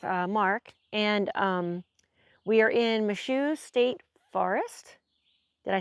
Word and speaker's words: Michaux: But anyway, I'm at our new camp spot with Mark, and we are in Michaux State Forest.